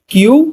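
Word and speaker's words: 九: গো এতটুক clear screenshot মাইরা রাখতে পারেন মুখস্ত করার জন্য দেখেন পরবর্তীতে আসি ছয় কে বলা হয় রকু কি বলা হয়?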